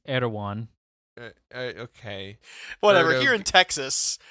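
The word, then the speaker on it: Erdoğan: of Native Americans um I'm pretty sure it's not pronounced aired again it's erwan okay whatever here in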